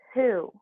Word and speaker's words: who: of sounds like wow right but it's actually who does pronounced to like ooh because remember these two